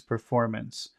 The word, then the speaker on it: performance: and then we have the word performance and the accent is on perform okay and now we